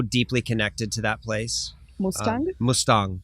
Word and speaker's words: Mustang: There's the Mustang on the border of Nepal and Tibet. For whatever reason, I feel so deeply connected to that place. Mustang? Mustang. It's spelled Mustang, but it's pronounced Mustang.